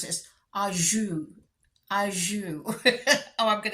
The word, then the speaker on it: au jus: to look it up on Google how to pronounce this. Au jus.